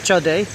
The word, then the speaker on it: Code: is the code River in jug Jakarta locally pronounced Chade uh but it's spelled c o d easy